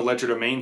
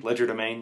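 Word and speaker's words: Legerdemain: us so from The Ledger domain skill line and and I also I should note this I pronounced that like an American Ledger domain that's how we say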